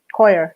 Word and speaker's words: coir: Coir, yes.